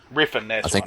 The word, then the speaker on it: Refn: I think it's Nicholas Winding Refn. Refn. That's I think right, that's how Refn. you Yeah, pronounce it.